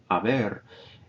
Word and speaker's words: haber: of the auxiliary verb notice i don't pronounce the age haber and the ado or